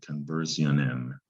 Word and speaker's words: conversion: And the S-I-O-N is the tricky part. It is not pronounced how it looks. It's got two pronunciations. Jeune. That's the best way to spell jeune. It's a very strange sound, kind of a Z thing. Jeune and shun. It depends on the word.